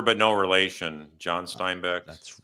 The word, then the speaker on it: Steinbeck: doing Mike hi everybody it's actually Stein Beck so Ste I said it wrong there oh Stein Beck make sure so like car uh what's that guy's name Glenn Beck Stein Beck yeah yeah it's like the author but no relation John